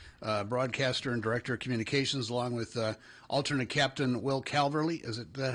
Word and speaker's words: Will Calverly: David Fine is here, the broadcaster and director of communications, along with alternate captain Will Calverly.